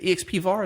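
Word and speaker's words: expvar: common uh metric packages uh ex is it exp VAR is that how you pronounce it yeah well xvar is one of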